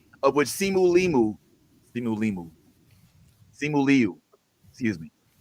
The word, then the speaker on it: Simu Liu: Simu Liu.